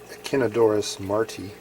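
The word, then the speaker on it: Echinodorus martii: I believe the correct pronunciation is Echinodorus marti.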